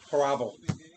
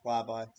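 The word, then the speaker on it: Hlavaj: Haravla. Haravla. You mean Hlavi? I searched up how to pronounce it. It's Hlavi. There's no R.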